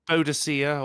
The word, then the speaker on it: Boadicea: Well, normally Boadicea or Boudica. Boudica. Okay.